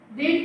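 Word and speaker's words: read: इज the Ramayana is रीड की third form spelling same pronunciation different रेड the Ramayana is रेड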